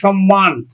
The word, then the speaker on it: সম্মান: ম তাহলেও কিন্তু ম এর উচ্চারণ মজা থাকবে সম্মান সম্মান আমরা উচ্চারণ করছি কিন্তু সম্মান সম্মান আমরা উচ্চারণ করছি